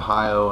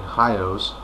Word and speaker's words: Hajo: of hajjo's i'm sorry hios that's one thing um it is spelled h-a-j-o but i do believe it's pronounced hi-o so anyway but since